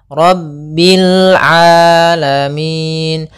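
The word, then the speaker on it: رب العالمين: Hati-hati jangan sampai merubah huruf ainnya menjadi hamzah. Banyak yang terjadi kesalahan dalam pelafalannya, yaitu mengganti dengan alif atau hamzah. Maka dibaca Rabbil alamin. Harusnya Rabbil alamin.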